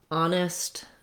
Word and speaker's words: honest: Honest also just begins with the ah sound of the letter O, no H sound.